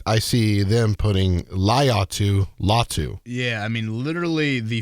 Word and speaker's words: Latu: He's like, call me Latu. I'm like, all right, that's easy enough. So we'll call him Latu. So yes, there's the phonetic spell, or there's the pronunciation of Mr. Latu there.